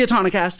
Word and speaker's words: Autonocast: How do you pronounce it? The Autonocast, right? It's the Autonocast.